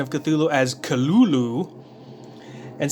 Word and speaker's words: Cthulhu: Lovecraft transcribed the pronunciation of Cthulhu as Cthulhu, and said that the first syllable pronounced gutturally and very thickly. The U is about like that in full.